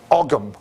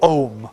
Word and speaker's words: Ogham: Ogham or Ogham, okay? Sometimes spelt with the H or not, depending on which Irish orthography you want.